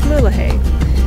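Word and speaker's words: Mulegé: Rosalia until we reach mulahay yes I finally learned how to say it right just south of mullahey is the northern entrance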